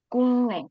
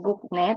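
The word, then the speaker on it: 국내: kalau di dalam negeri kita sebutnya kungne bacanya kungne Jadi bukan gukne tapi giok sama Nen itu kalau ketemu dibaca engung darung nah tapi kalau yang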